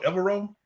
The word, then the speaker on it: Evero: Is it pronounced Evero?